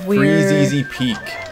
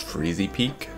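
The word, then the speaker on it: Freezeezy Peak: found out today that I've been mispronouncing it yeah my in my young life especially what were you calling it before uh just freezy Peak but it's free easy Peak I saw oh gosh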